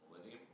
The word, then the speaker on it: molybdenum: bauxite, magnesium, zinc, tungsten, and something I can't pronounce. Thank you. Would you say that again? Molybdenum.